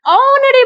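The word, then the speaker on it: honorary: Mute है और silent है, तो इनके आगे हम क्या लगाएंगे? N. Like an ऑनरी post, सबसे ऊंचा पद, बहुत, एन आवरली हर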